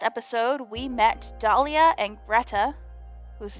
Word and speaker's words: Grethe: we met Dahlia and Greta whose name I believe I was pronouncing incorrectly I think she's one of those cases where th is pronounced like a ta either way she quickly